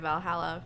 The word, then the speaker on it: VA-11 HALL-A: entire finished game like Valhalla I did not phrase that correctly however it is fantastic it's spelled VA 11 hall a but you know if you just type in Valhalla then it'll show up and it's like an